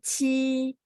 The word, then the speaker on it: 期: 星期，星期， Oke, 星期. 星期， Nah, ci-nya itu dia ada angin ya, bacanya kayak CH. Jadi, 星期.